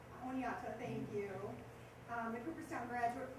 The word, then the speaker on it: Oneonta: And I'm embarrassed, Oneonta, is that how you say it? Oneonta. Oneonta, thank you.